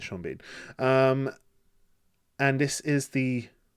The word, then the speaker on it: Sean Bean: Lewis, Sha Bean, or Sheen Bourne. I don't know how you pronounce that. I'm joking. It's Shaun Bean.